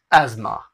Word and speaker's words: asthma: ए एस के जगह पे जेड लग गया, टी एच गायब कर देना है ए में, एस्मा, एस्मा।